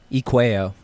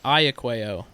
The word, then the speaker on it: Eacueo: say your full name so I have the pronunciation correct so everybody calls me or but my full name is Ikea what's that what's the nationality it's Italian nice it used to be ayakeo a uh i a c u e o